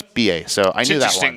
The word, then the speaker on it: billet: Well, ticket is BA, I believe it's pronounced, but it's BILLET. Maybe TE, but I think it's BA.